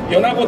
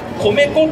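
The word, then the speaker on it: 米子: とその 1、米子は米子と読み方を間違えないでください。米粉とは呼ば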